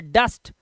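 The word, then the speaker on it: dust: सन fun luck जस्ट जुट नहीं ऐसे ही डस्ट नहीं दुष्ट मत पढ़ डस्ट दो कंसोनेंट या तीन कंसोनेंट के बीच में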